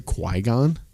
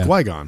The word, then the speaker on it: Qui-Gon: did you hear that did I say Quon like guon gu like you pronounce the Q as a g like gu it's Qui-Gon it's Qui like no